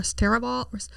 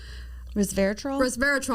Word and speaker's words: resveratrol: Um I mean, there is a component in red wine called res r respolver. Resveratrol. I'm like, oh, that's not right. I can say it right.